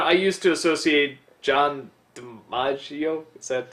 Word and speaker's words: DiMaggio: something I am noticing watching more and more of these is that, you know, I used to associate John DiMaggio, is that how you say it?